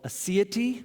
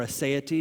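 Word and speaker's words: aseity: a theological word called a CIT or a saya T depending on how you say it a CIT is is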